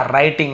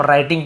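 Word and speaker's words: writing: लिखना, राइटिंग, यहाँ पे W साइलेंट होता है, केवल हम राइटिंग पढ़ते हैं, W को नहीं पढ़ते, लेकिन लिखते समय तो लिखना ही पड़ेगा।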